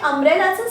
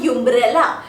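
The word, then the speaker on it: umbrella: आहे अम्ब्रेला पण इथे अम्ब्रेलाच स्पेलिंग जे आहे यु पासून सुरू होतय बरोबर आपण युमब्रेला असं नाही म्हणत आपण म्हणतो अम्ब्रेला म्हणजे छत्री सो इथे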